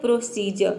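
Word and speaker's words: procedure: कि एग्जांपल देखते हैं प्रोसीजर यहां पे देखिए डी को हम ज प्रोनाउंस कर रहे हैं प्रोसीजर प्रोसीजर है ना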